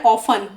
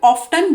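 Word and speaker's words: often: causing harm और damage अच्छा य य वाला जो वर्ड है ऑफ इसको अमेरिकन इंग्लिश में ऑफ्टन भी बोला जाता है तो ऑफ भी सही है टी साइलेंट वाला लेकिन टी आप प्रोनाउंस भी कर सकते हैं ऑफ्टन भी बोल सकते हैं आप किसी भी तरह इस वर्ड को प्रोनाउंस कर सकते हैं हार्म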